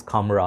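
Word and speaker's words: Khamrah: reviewers did not know how to uh like pronounce it it's almost like camera sounds to say camera this is camera okay even though I'm not Arab but this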